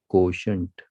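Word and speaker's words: quotient: Okay, बच्चे इसको pronounce नहीं कर पाते हैं, इसको देखो, ये जो है यहाँ से यहाँ तक इसको पढ़ते हैं को, और इसको शंट, SHU, जैसे हंट होता है ना, शंट, हंट, कोशंट, इस तरीके से पढ़िए।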